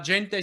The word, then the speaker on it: gente: la gente sostai mira with stress on jay great it's hard to do musically because of the little yeah because there's the little embellishment on the second syllable of gente so a lot of people say la gente mira but you you managed to say la jen by making the embellishment lighter than the gen great fantastic good good